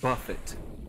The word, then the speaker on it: Buffett: buffet or Buffet Jimmy so Jimmy Buffett is pronounced Buffett but if it's the food event it's called